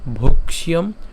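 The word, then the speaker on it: ভৈক্ষ্যম: তার মানে কি হবে অপিহ অপিহ তাহলে যদি উচ্চারণটি পুরাটা যদি একসাথে করি শ্রেয় ভুক্তুং ভক্ষিয়ম অপিহ লৌকে আমি আবার বলছি শ্রেয় ভুক্তুং ভক্ষিয়ম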